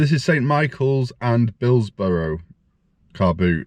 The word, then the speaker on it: Billsborrow: Michaels and Billsborrow car boot. Now I always thought it was Billsborough. Maybe you say Billsborough, but it's spelled Billsborrow.